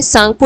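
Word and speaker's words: Tsangpo: टी यहाँ पर silent है, सांगपो रिवर कहा जाता है।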